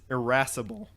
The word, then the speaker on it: irascible: So it is spelled IRASCIBLE, C-I-B-L-E. irascible, and it is defined as having or showing a tendency to be easily angered. So irascible. Doesn't sound like that. So it's related to irritable.